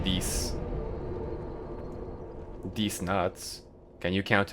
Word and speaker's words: dix: Ten is pronounced dis.